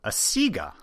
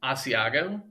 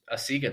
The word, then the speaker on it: Asiga: here to talk about a printer called asiga which i'm sure is mispronounced a lot too we get asiago yeah i get a seizure a seagull probably honestly the the funniest one is when they call it the asiago like like we're selling